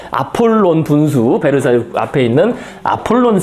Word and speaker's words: 아폴론: 여기 아폴로라고 그냥 영어 발음 그대로 썼는데요. 아폴론 분수, 베르사유 앞에 있는 아폴론 샘이라고 돼 있죠.